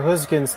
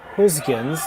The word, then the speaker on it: Gosgens: So, and all the studying of the Dutch language that I did today, the skip's name Gosgens, that first G, attempted to say it like a G sound.